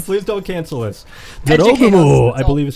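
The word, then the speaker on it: 女郎蜘蛛: Jorogumo.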